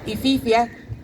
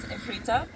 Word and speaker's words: Efrita: I would now like to introduce Eifrita. I hope I pronounced it right, and she's after coming all the way from Kerry today to speak to you. Thank you. No, my name is Efrita, and I'm from Latvia.